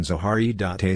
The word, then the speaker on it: Zaharia Stancu: Zaria Stanko romanian pronunciation zaharie dante statue October 7th 1902 December 5th 1974 was